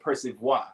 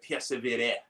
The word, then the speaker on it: persévérer: So he was like, call it persevoir, because he thought that was how you said it in French. So then I called a friend of mine, and she was like, no, you said persévérer is how you say persevere in French.